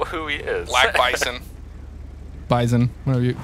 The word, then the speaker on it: bison: he is black bison bison whenever you whenever you not no many people call it bison you know what all those people they're wrong right like half the time